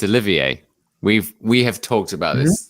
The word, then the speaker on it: Olivier: No, it's Olivier.